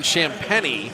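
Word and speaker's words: Champagnie: nba player that really sticks this is justin champany someone lost his shoe the rookie out of pittsburgh i'm bummed that he pronounces his name that way it's it's spell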